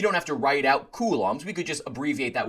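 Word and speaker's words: coulombs: That's how you pronounce that. You don't have to write out kulums.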